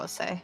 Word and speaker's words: os: the thing with Latin is it's written, and the way that it's written is every letter will be pronounced. So it would be like there is no silent letters in Latin or anything like that. Okay, so then it would be something like Ose.